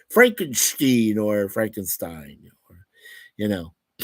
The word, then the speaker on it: Frankenstein: So with the Steen, part, or Stein, or things like that. So, and I think when Mary J. Shelley first came out with the book, she pronounced it, I believe, as Frankenstein. Yeah, with the Stein at the end.